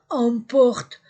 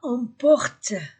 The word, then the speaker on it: emportent: les vincent1 les vincent emportent en t terminaison du verbe. Pluriel ne se prononce pas. Les Vincents emportent leur carte, leur carte